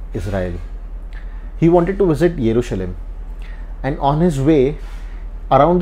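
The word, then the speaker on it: ירושלים: introduce today is called o Jerusalem or as pronounced in Hebrew yerushalim I personally prefer the Hebrew pronunciation so I'll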